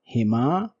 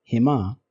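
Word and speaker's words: هِمَا: If these are preceded by ya with sukoon on it or preceded by zair, they will be written and read as hima, him, hinna. If huma is preceded by ya with sukoon or zair, it will be written as hima and will be read as such as well.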